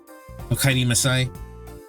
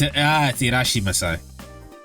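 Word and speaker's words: いらっしゃいませ: I think it's Okaidi. Okaidi Masai. It's Irashi Masai.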